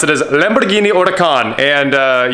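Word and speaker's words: Huracán: is the member tavini Otakon and you know the H is silent so I figured I'd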